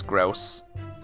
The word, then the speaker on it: Grouse: It's pronounced like house, so it is grouse.